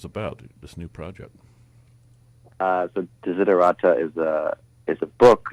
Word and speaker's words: Desiderata: Desiderata? Did I screw it up? I screwed it up. Yeah, it's like desire, desiderata. Desiderata.